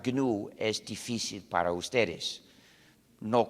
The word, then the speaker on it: GNU: No obstante, cuando hablas castellano, puedes pronunciarlo new, como si comenzara por ñ, lo que es también el nombre del mismo animal. Me dicen que pronunciar GNU es difícil para ustedes.